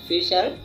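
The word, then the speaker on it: fisher: আসলে এটার American style হচ্ছে ফিশার, কিন্তু এর ব্রিটিশ স্টাইল হচ্ছে ফিশা। মানে ব্রিটিশ স্টাইলে আরটা উচ্চারণ হবে না, জাস্ট হবে ফিশা।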